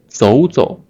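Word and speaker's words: 走走: 走走. So this tone has been changed from the third tone to the second tone, right?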